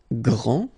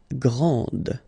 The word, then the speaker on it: grand: This final D is not pronounced. Okay, so grand, and then the feminine form, grande. Okay, so you put this E, and then you get the sound D, grande.